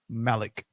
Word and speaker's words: Malik: like eight people named malik which of course is arabic for king right even though technically it's pronounced malek that's why malcolm x's